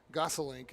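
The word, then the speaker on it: Gosselink: Gossalink is how you pronounce it. I I had to double check my my phonetics there.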